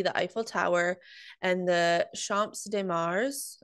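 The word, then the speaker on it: Champ de Mars: Eiffel Tower and the Champs de Mars is that how you say it uh I would say champ DeMar okay most of the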